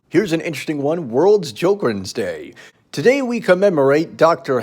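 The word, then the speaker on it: Sjögren: Sjogren's, pronounced Sjogren's syndrome, is an autoimmune inflammatory disease where white blood cells attack moisture-producing glands.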